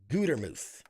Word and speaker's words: Gutermuth: huge welcome to my guest tonight comedian Ashley goodermuth hello oh my goodness thank you thank you